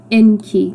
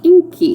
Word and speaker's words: Enki: Um, anyways, Enki, his name is I think pronounced Enki, not Inky, in the way that Lurian's son was uh the way I pronounced his name.